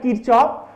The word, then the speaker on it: Kirchhoff: Some people pronounce it at Kirchhoff, but one professor actually told me that exact pronunciation will be Kirchhoff, right?